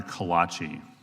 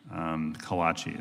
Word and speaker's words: Callaci: I just remind folks, it's Dr. Callaci for everybody. It's been mispronounced a couple times. Callaci is the name.